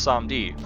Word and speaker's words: Samedi: yeah I did look it up it is pronounced some deed they are based off of Baron Samedi one